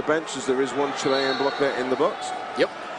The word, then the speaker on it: Chile: That's what we've been told is the correct pronunciation. It's Chile.